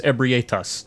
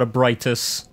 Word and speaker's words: Ebrietas: the auger of ebrietas yes that is how you say that i checked the katakana i know how to read katakana it's ebrietas not a british not ebritas this lets you partially summon